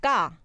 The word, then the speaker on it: 까: I feel like the 쌍기역 comes more from the back of the throat. There's like a coming together of your throat somehow, and they go ga as opposed to ka.